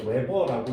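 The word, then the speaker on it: weber: WB라고 쓰고 웨버라고 읽어요.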